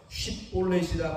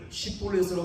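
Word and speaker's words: 쉽볼렛: 쉿볼렛이라 발음을 시켰는데, 자, 이것은 무거운 짐, 무겁다, 무거운 짐이라는 뜻을 갖고 있죠. 당시 에브라임 사람들은 지역 사투리 영향으로 말미암아 발음을 제대로 할 수가 없었습니다. 약간의 차이겠지만 시볼렛으로 발음하면 그는 에브라임 사람이 탄로나게 된 것이었습니다.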